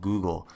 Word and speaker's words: goo.gle: service that Google offers it's actually just called Google but it's spelled G oo g let's take a look